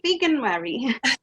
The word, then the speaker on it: Veganuary: Today we're going to be talking about, how do we pronounce this word? Veganuary? Veganuary.